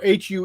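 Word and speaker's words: Huế: So HUE is pronounced Hue in Vietnamese.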